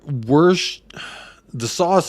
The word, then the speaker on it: Worcestershire: good to put some Worcestershire in there um we're worse the sauce is right way to say it made from anchovies close